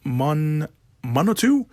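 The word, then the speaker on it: Munteanu: Florian, I want to mispronounce his last name, Monotu. That's how you pronounce it.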